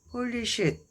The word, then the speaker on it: polished: 이것도 ed가 거의 소리 안 나죠. polished, 쉬도 이런 이제 발음교를 이렇게 쉬 발음에 이는 t 발음 나오는데 거의 소리가 안 나죠. polished 이렇게 돼요. 혀가 입천장에 딱 붙으면서 끝나죠.